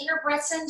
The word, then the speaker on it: Ingebretson: How do you say her name? Yes, Ingebretson.